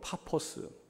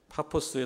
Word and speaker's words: 파포스: 발음할 때 바보인 거지 영어식 발음으로 뭐 파포스 이렇게 발음하는 것 같아요 파포스에 도착했는데 여기서 중요한 두